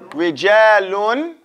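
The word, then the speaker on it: رجالٌ: Rijalun. Say rijalun. Because there's nothing here, so we have to pronounce the tanween clear, right?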